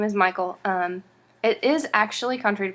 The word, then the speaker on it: Michal: It's pronounced Mikhail, but we pronounce it Michael.